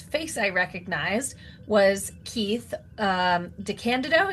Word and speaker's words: DeCandido: And the first person whose face I recognized was Keith DeCandido. Is that how you pronounce it? DeCandido. Yes, I mispronounced it at the beginning of the interview episode, and he Oops. promptly corrected me.